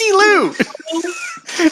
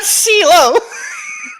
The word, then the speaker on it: Silu: Silu, the reverse of Lucy.